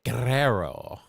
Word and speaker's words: Guerrero: Guerrero. Like Eddie Guerrero. Got to say it like that.